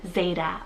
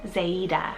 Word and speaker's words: Zaida: We have Zarlow and Zeta or Zaida. So Z-A-R-L-O-W, and Zeta or Zaida is Z-A-I-D-A.